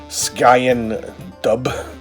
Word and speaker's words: Sgian Dubh: i would pronounce this sky in dub it's got that gaelic flair to it ski and do this is a traditional